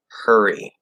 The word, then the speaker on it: hurry: there's no reason to extend that R. Okay, it's going to be hurry, blurry, lurry.